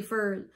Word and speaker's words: foil: but it's corn flakes the word foil like aluminum foil we say fur when I say we